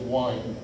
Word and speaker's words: wind: It's not pronounced wind, it's wind.